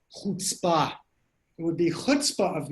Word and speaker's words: chutzpah: It's pronounced chutzpah.